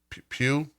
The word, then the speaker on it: Pugh: Pugh?